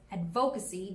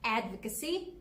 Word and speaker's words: advocacy: not be pronounced as advocacy because the stress is actually in the first syllable and not in the second so you should say advocacy and not advocacy here's something i picked